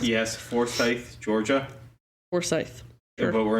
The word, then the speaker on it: Forsyth: Is that how it's pronounced? Yes, Forsyth, Georgia.